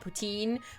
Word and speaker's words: poutine: passionate about our ptin I do realize most Canadians call it poutine but like calling a ptin because it sounds better and that's how my